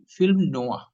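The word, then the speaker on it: film noir: भी बहुत सारे भारती नोयर ही बोलते है उसका उच्चारण है फिल्म नो है वोलीवड फिल्म है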